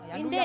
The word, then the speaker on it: luya: Oo iba sa Cebuano ang kini luya luya ilugang para ang luya pala. sa sa bisaya luya ah accent on the ah yes luy ah you know kasi ang